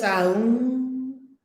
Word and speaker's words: Om: And our mantra this morning is Om, also known as Aum. Pronounce it as desired for maximum effect.